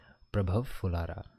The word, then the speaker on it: प्रभव फुलारा: शांति शांति प्रभव शांति मेरा मेरा नाम है तो मेरा नाम है प्रभव फुलारा प्रभव फुलारा और मैं हूं हद्वानी उत्तराखंड से प्रभव फुलारा ऐसे प्रोनाउंस किया जाता है।